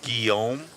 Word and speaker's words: Guillaume: It's pronounced Guillaume.